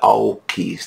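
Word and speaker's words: AUKUS: que se escreve à Upa Oeste mas se pronuncia ao quis nesse já se se convencionar ou essa pronúncia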